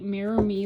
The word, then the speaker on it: Mirror Mi: Um, so here's the Mirror Me logo. It's all in a mirror. And MI, it's spelled MI.